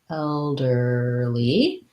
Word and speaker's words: elderly: for the word elderly elderly so that has first syllable stress um a tight er